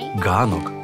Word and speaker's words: ґанок: Поляки стали вимовляти «ганек», тобто вхід в будинок. А українці адаптували під свою щелепу, ну, тобто вимову, і в нас з'явився «ганок» – майданчик перед входом в будинок.